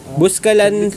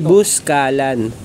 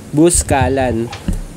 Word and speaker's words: Buscalan: ito yung hangin bridge ang tamang pronunciation ng busalan busalan kasi yung tinatawag natin sa atin pero yung mga taga doon ang tamang pronounce nila sa Barangay nila ay buscalan buscalan so ito yung bridge